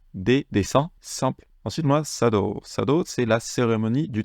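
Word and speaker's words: 茶道: et je dessine des descends simple ensuite on sado sado c'est la cérémonie du thé remarquez ici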